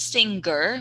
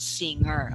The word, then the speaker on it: singer: singer part okay so the g sound i could hear not singer but singer okay no g sound okay thank you chakran